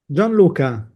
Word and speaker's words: Gianluca: Gianluca.